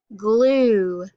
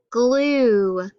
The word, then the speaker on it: glue: u sound that's right u e is a digraph because we hear that u but we don't hear the e so let's think about